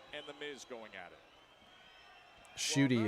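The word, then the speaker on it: Ncuti: Shooty is how it's pronounced.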